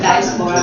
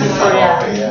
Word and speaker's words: dysphoria: 性别离散 diaspora, like DIASPORA, diaspora. It's pronounced dysphoria.